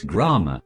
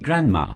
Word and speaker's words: Grammar: Hello Adam, I really appreciate being here mate, but you pronounced my last name wrong. It's Grammar, not Grandma.